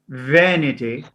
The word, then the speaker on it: vanity: the pronunciation also changes so there we have vein as we add ity it goes to not to vanity it goes to vanity vanity va van vanity